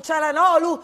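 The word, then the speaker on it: Çalhanoğlu: rimasta ancora a questo calan olu dove la g non si pronuncia ho scoperto adesso Doo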